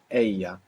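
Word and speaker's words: ella: word for she is Aya a a now this is spelled e l l a double l in Spanish is pronounced y a so if you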